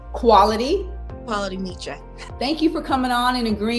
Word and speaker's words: Qualimetra: It is Qualimetra. Qualimetra, like quality. Qualimetra.